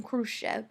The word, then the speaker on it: Khrushchev: Nick I crush F this is how you say his name Khrushchev kind of backs down